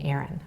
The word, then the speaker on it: Erin: Erin, that's right.